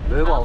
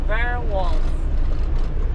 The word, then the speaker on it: Vorwald: Vorwald. Vorwald. Vorwald. Vorwald. It's yeah. German. German? No, the name. Yeah, German pronounced.